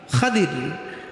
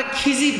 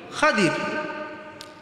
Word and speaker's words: খাদির: খাদির। আমরা খিজির বলি। এটা প্রসিদ্ধ ভুল। আসল উচ্চারণ হবে কি? খাদির। উনার আসল নাম কি?